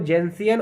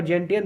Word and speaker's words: gentian: ठीक है, इसको जेंसियन और जेंटियन दोनों के नाम से जाना जाता है, तो आप कंफ्यूज मत होइएगा, कहीं पूछा जाता है।